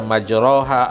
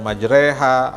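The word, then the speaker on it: مجراها: Seperti kita tahu misalnya dulu kita waktu belajar ya, kita ada imalah gitu ya, ada yang membaca majroha, ada baca majreha, ada wadduha, ada wadduhe.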